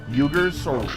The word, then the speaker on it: Uyghurs: there's an Asian um the uyghurs it's the eugers the uyghurs oh that's how it's pronounced yeah okay I thought